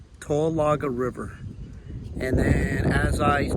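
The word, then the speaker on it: Towaliga: river behind me here is called or is pronounced TOA laga tolaga River and then as I pan around here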